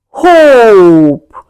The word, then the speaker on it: hope: hope You can hear the sound of o and e goes silent.